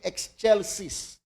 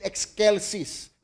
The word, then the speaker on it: excelsis: Kaya po napakaganda ng laman itong awit na ito at minsan marinig natin pronunciation in exchelsis sometimes in excelsis. Kaya po magkaiba pronunciation kasi po meron pong tinatawag na Latin classical latin.